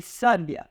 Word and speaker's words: sábia: Já diferente daqui, sábia. Então, aqui a sílaba tônica recai na penúltima sílaba.